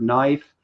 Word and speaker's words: knife: the K is silent.